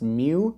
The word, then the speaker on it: mju: seen is said that it's pronounced mew this small sleek little